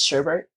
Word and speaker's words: sherbet: There's no R in it, but every Midwesterner puts the R in, so it's sherbet.